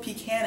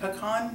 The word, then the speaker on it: pecan: I do this pean I say both pecan and pean depending again what I'm talking about it's like it's